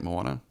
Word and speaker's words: Moana: actually never watched uh but it's it's uh Moana is that how you say it Moana yes I'm so eager about this I've seen